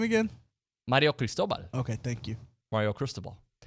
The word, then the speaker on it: Mario Cristobal: love how do you say that name again mario cristobal okay thank you mario cristobal but is there